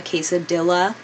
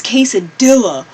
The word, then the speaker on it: quesadilla: know it's me llamo I used to be one of those annoying people that pronounced quesadilla quesadilla I think that's honestly so obnoxious I hate when I hear that it's case of doula ruin America you just